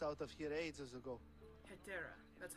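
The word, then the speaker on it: Hetairai: Etera, that's how you say it.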